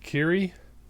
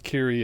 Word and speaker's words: Kyrie: mister released their single kyrie a i'm going to clear that up kyrie a right you look at that title and you're like kiri you figured it's called kiri right uh kyrie a and they even